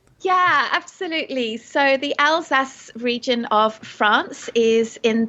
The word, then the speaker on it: Alsace: something because I think I said the all say uh was the first thing I said came out of my mouth when we started talking and I was saying it wrong where are we talking